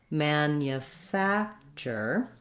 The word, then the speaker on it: manufacture: at a time slowly i think the challenge with this word is that this tu has the ch sound and this nu has the yu sound so there's a lot of hidden sounds in the word manufacture let's go slowly manufacture